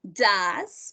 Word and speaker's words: does: What is the pronunciation of OE here? Does, if we say does, what's the pronunciation for OE? Like A. Oh. Like an A, yeah, like a Spanish A, so we does.